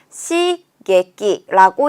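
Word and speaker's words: 刺激: 시게끼라고 읽게 됩니다.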